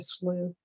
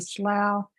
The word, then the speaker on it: Columbia Slough: all about the Columbia slooh um or even how to pronounce it I yeah English there's like five different pronounciations for ug I had a friend in DC call it the slow and uh many people